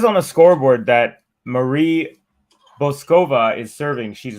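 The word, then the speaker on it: Bouzková: So according to the WTA website, the pronunciation is Marie BOUZKOVA.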